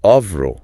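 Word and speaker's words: oeuvre: Ah, yes, spelled o eu v r e, pronounced au. Au, it's a heavy French, distinctly academic term.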